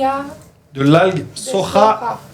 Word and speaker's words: soja: de Soja. Soja se dice igual que en español, pero se pronuncia soja.